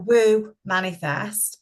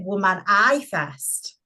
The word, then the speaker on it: Womanifest: But if you think of it as an woo manifest. Yeah. Yeah. Woo manifest as in like woo woo woo woo.